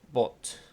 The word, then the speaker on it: bought: The most expensive car we've ever bought. ¿Ok? Ah, esto también, acuérdense. Bought. ¿Ok? Both. No se pronuncia la U.